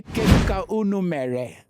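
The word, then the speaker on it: Kedu ka unu mere: Let's start with, you say, Keduka unumere.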